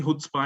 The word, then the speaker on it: chutzpah: Chutzpah. It actually, you pronounce it using the H sound at the end, at the start.